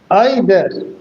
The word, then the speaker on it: either: R should not be pronounced distinctly.